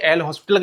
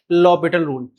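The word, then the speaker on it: L'Hôpital: आपने कहीं भी और जगह पढ़ा होगा, इसे एल हॉस्पिटल के नाम से सुना भी होगा, लेकिन वास्तव में इसका जो करेक्ट प्रोनाउंसिएशन है वो है लॉपिटल रूल।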